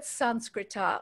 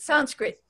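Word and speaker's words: संस्कृत: at different levels um the word sanskrita which is the sanskrit word for sanskrit sanskrit the way we're saying sanskrit is really the hindi pronunciation takes the vowel off the end but sanskrit means pure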